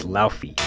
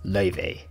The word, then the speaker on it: Laufey: Because jazz was struggling, but one person beat all the odds, and that's Laufey. She's Icelandic Chinese, if you're wondering why it's pronounced like that.